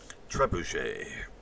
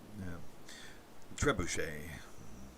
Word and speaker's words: trebuchet: are pretty much buried trebuchet the trebuchet so I think I pronounced it correct the et at the end is it's not pronounced at as far as I know ballet right although we